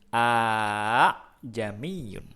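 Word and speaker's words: أأعجمي: Kita bacanya tidak a'jamiyun, tapi kita bacanya a'jamiyun. Oke? A'jamiyun. Ya, dibaca panjang huruf alifnya atau huruf hamzahnya, bunyi hamzahnya.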